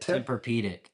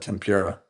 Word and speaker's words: Tempur-Pedic: Tempur-Pedic. Yeah, thank you. I almost said tempura.